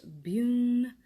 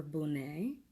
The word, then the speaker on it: Bune: have been working with this is abouna or pronounced boon or boon a okay so buna is